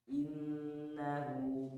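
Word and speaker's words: إِنَّهُ: Innahu kana tawwaba. Baik. Barang tuh 2 3. Innahu kana tawwaba. Nah, perhatikan di sini ada innahu, in ditahan, dilamakan gunnah namanya ya.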